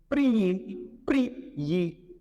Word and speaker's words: prier: Quand j'ai deux consonnes successives plus I, suivi d'une voyelle prononcée, je mets I plus Y lors de la transcription phonétique.